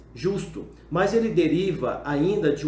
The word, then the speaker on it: jus: Outro sentido é o prefixo latino jus, ou pode também ser pronunciado como ius.